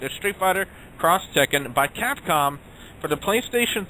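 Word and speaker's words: Street Fighter X Tekken: 3 and Xbox 360 Street Fighter cross Tekken that's how they officially pronouncing it a Street Fighter cross Tekken by Capcom for the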